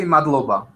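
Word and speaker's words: მადლობა: It's easy. You just say Magloba.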